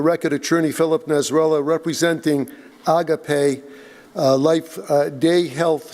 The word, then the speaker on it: Agape: of the board initially the correct uh uh pronounciation is agape which is a Greek word meaning love embracement mutual respect and